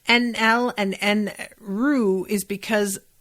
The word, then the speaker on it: Enel: Bernadette says Enel and Enru is because the syllable in Japanese ru is basically pronounced between L and R and the U is silent.